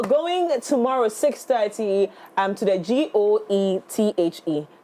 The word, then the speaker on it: Goethe: But we're going tomorrow, 6:30, to the GOETHE. What am I pronouncing? Goethe Institute. Cantonment.